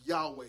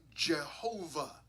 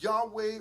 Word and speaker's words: Yahweh: of God it's God's name Yahweh we would pronounce that Yahweh sometimes you're going to hear pronounce yve uh you might hear the name Jehovah okay okay that's with you know putting the